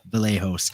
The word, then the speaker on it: Vallejos: Brazilian name like Kevin, they pronounce the V as a B. So it's Kevin Vallejos.